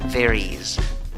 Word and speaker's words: there is: La última E de la primera palabra no la pronuncias. La segunda palabra se escribe con I. La pronunciación es con I, también con una I débil, no es una I fuerte. La escritura es con S, pero la pronunciación es con Z.